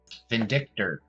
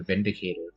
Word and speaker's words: Vindictor: I was calling that I did a kit bash of it, and I called it a Vindicator for a time until I looked it up and it was a Vindictor.